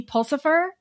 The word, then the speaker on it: Pulsifer: Katie Pulsipher, did I say it right?